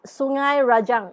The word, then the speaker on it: Sungai Rajang: It's Sungai Rajang in Sarawak. Rajang. Yes, Rajang. Some people pronounce it as Rajang, but the official name is Rajang.